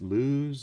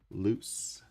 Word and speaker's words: Luce: By the way, is that mascot, is it pronounced Luz or Luce? Luce.